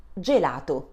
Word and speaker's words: gelato: Consonant G, followed by vowels E and E, makes a soft sound J, as in jeans. Repeat after me. G, J. An example is gelato.